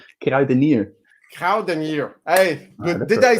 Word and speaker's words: Kruidenier: and your last name get I've been near Cowden year hey did I said did I said it